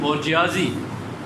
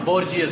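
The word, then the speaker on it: bourgeoisie: यहाँ से उस नई क्लास, जो कैपिटलिस्ट क्लास, जो मिडिल क्लास है, जिसको अंग्रेज़ी में बोर्जियाजी और बोर्जियस, दो प्रोनाउंसिएशन है, वो क्लास है।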